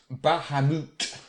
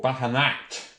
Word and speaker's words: Bahamut: Bahamut, or Bahamat, before the name was co-opted for D&D, was a large, as you say, elephant-headed fish from Arabian mythology.